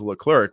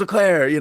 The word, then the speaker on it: Leclerc: the year, Ferrari, with, I guess it's actually pronounced Charles Leclerc, which is crazy to me because you hear the main announcer for Formula One every single weekend.